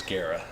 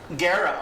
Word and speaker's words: Guerra: And Charlie's shaking his head, so I said the last name wrong, correct? I was going to correct you. Yeah, it's Guerra. Guerra, okay.